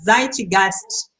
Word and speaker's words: Zeitgeist: O Zeitgeist, ele me mandou aqui dizendo: Daiane, se pronuncia Zeitgeist, algo como espírito da época, em alemão.